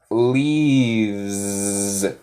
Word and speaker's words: leaves: Pero con ella sale, she leaves. El S de abeja. She leaves. She leaves. Muy bien, Kui. Yes, good job with el continuous. I'm watching Nate giving English classes. Muy bien. She leaves. Suena como abeja.